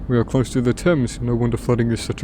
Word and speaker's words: Thames: We are close to the Thames. No wonder flooding is such a risk. Oh, I wonder where that actually takes place. I still remember when Markiplier pronounced Thames as Thames.